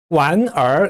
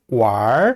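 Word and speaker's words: 玩儿: 놀다라고 할 때 완 해도 되지만 북경 사람들 왈 하고 발음합니다. 완얼 이렇게 발음하지 않아요.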